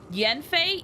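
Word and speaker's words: Yanfei: is because in genshin Yen FEI even though it's spelled with an a it's still pronounced as Yen Yen I don't know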